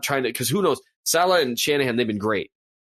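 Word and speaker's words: Saleh: I know that with 2 weeks to game plan, I'm in Salah, Salah.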